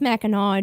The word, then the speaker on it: Mackinac: It's pronounced Mackinac.